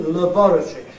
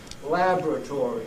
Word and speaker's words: laboratory: on in Laboratories but we don't say Labb we don't have a a clear V lab in that first syllable we said laboratory now when I say we of course I don't include the Americans because the Americans say laboratory as you know but we don't